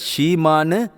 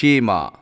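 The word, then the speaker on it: Shema: மனுஷனுக்கு இயேசு பதிலா சொன்னாரு இதை ஷீமான்னு உச்சரிப்பாங்க இதை ஆங்கிலத்தில் சொல்றேன் எஸ் எச் இம் ஏ ஷீமா இதை இன்னொரு தடவை சொல்றேன் ஷீமா இப்ப இந்த ஷீமாங்கிறது பழைய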